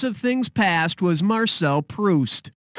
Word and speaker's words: Proust: things past was Marcel proust as in when I'm Juiced and need a boost to get Goose I